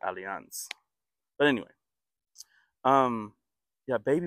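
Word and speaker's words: Allianz: the world and um I believe they pronounce it aliance but anyway um yeah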